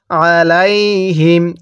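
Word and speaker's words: عليهم: লাম ইয়া জবর লাই হা মিম জের হিম আলাইহিম কিভাবে পড়বো আলাইহিম তাহলে গাইরিল মাগদুবি আলাইহিম এরপর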